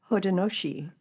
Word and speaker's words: Haudenosaunee: Can you pronounce their actual name? Here, try it. Haudenosaunee.